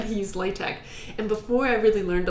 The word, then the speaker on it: LaTeX: It's pronounced LaTeX, but I say it LaTeX. It's spelled latex, but I say LaTeX.